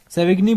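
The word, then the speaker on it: Savigny: आप उनकी प्रोनाउंसिएशन को थोड़ा वेरी कर सकते हैं भैया, मेरे से जो बोला जाता है मैं वो बोल देता हूँ, बट कंसेप्ट क्लियर हो जाता है। सेविग्नी बोलिए, सेविनी बोलिए, एक ही बात है।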